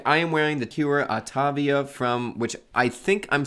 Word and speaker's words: Autavia: It's a portmanteau, I found out, between automobile and aviation. So aviation, or AVA. So, Autavia. No, you see, I was breaking it down correctly and I still said it wrong. It's Autavia.